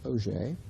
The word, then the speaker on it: Auger: Although it's spelled Auger, it's Auger.